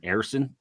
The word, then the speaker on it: Harrison: face and by the way it is Harrison so if you hear me say that don't tweet me and tell me I'm saying his name wrong that's how he has said his name is pronounced so if you got a problem with me saying errson text him all right sometimes